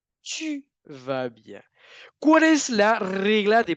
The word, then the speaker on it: tu vas bien: Tout va bien, tu vas bien. ¿Cuál es la regla de pronunciación ahí?